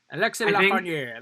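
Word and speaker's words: Lafrenière: Alexis Lafreniere. That's how I pronounce it.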